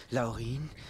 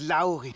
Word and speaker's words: Laurin: Zwerge zum tausendsten Mal es heißt nicht Laurin es heißt Laurin mit Betonung auf dem auch au genau ein Angriff auf